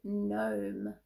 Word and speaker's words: gnome: it before g n the g is silent this is the word gnome g n o m